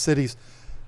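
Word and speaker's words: CITES: It's pronounced cities.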